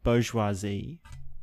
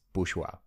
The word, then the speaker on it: Bourgeois: yeah so I mean the French tell me how to pronounce it they say it's it's bourgeois bourgeois but you know I'm like made I'm Australian my last name is bushwa like Bushwhacker but isn't isn't boat